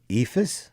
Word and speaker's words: Eephus: EFIS?